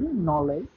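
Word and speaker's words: knowledge: এক্ষেত্রে মনে রাখতে হবে কে এর উচ্চারণটা হবে না বা অনুচ্চারিত থাকবে। যেমন উদাহরণস্বরূপ আমি তিনটি উদাহরণ দিয়ে দিয়েছি, নলেজ, নাইট এবং নি।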